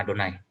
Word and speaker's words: Adonai: Di tulisannya ini diucapkan Adonai.